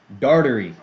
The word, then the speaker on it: Darderi: Dartery. That's how they pronounce his name.